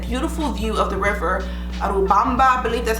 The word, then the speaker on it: Urubamba: Had a beautiful view of the river, Urubamba, I believe that's how you pronounce it.